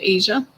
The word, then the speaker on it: Aza: Shar, Shar would like us to pull a card for Aza, or Asia. Okay. She said it's pronounced Asia.